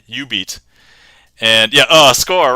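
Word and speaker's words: jubeat: And uh it's spelled J U B E A T, but the Ju is Jew or is U. So yeah, you beat and yeah, uh score, right?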